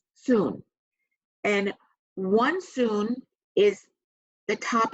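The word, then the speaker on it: cun: it's called it's spelled Cu end but it's pronounced soon and won-soon is the top of your thumb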